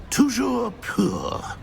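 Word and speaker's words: toujours pur: Tujour poor.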